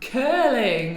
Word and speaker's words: curling: Curling.